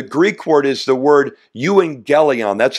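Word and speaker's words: εὐαγγέλιον: see there the Greek word is the word you and gelon that's how it's pronounced Y and gelon it means Simply Good News the word gospel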